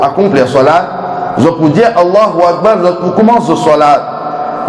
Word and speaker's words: Allahu Akbar: pour commencer au salat, une personne pas dire Allahu Akbar, il dit Allahu A'la. Salat là, il n'est pas commencé même, il n'est pas valable.